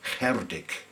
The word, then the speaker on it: Cerdic: we call him lovingly, Cerdic the Saxon. More properly, he'd be pronounced as Cerdic.